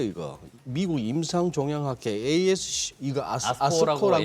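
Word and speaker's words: ASCO: 미국 임상종양학회 ASC 이거 아스코라고, 예. 아스코라고 읽으면 되죠.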